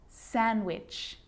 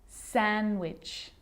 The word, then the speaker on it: sandwich: that's the silent c so what about the letter d yep it can be silent too wednesday handsome sandwich so i'm not pronouncing